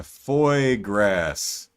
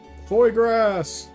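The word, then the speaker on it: foie gras: remember if I'm remembering things right uh uh Foy grass yeah duck duck liver okay I'm sure I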